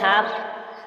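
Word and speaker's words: half: इसलिए L silent है हाफ हाफ में एच ए एल एफ हाफ हाफ silent है टॉक टॉक में के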